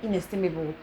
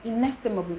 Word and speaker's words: inestimable: take for instance inestimable now if this word is broken broken into syllable you should have like five syllables but in a case where you just pronouncing without the cable you have something like inestable just like most people commonly pronounce it as instead of inestimable in then the syllable